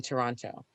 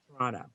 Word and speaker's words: Toronto: next to chinatown in toronto um excuse me toronto toronto got to get the pronunciation right yeah well if i'm